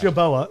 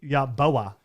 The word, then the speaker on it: Yeboah: It's Yeboah. It's pronounced Kenny Yeboah, Mississippi.